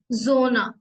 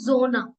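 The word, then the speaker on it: Sonne: Next है एस, एस जोना, ये soft S like English Z.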